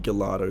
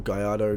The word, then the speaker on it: Gallardo: ago, is the Lamborghini Gallardo Spider, or Gallardo, based on how you want to pronounce it.